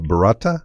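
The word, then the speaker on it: burrata: not even sure how to say it is barata is that right yes um it is an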